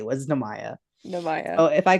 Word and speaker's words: Nehemiah: Namaya all the time, and it bothers him, but now I You're do it on missing a purpose. syllable. I know. And it's Nehemiah, but I now at this point I call